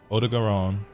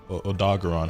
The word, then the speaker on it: Odogaron: So like my favorite monsters off top, Odogaron, or Odogaron, however you fucking want to pronounce it.